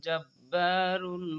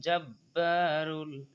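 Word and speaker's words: الْجَبَّارُ: আজিজুল জাব্বারুল, জাব্বা একালিফ টানতে হবে, জাব্বারুল মুতাকাব্বির, মুতাকাব্বির, কিন্তু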